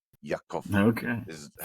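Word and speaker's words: Ya'aqov: name, the one I was pronouncing was YA apostrophe AQOV. Yakov.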